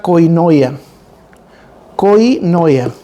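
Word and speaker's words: κοινωνία: que no lo entendemos viene traducido de una palabra griega que se pronuncia coino Coin noia que significa una comunidad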